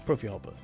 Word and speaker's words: Profihopper: Am I saying it right? Is it PROFIHOPPER? Yes, it is PROFIHOPPER.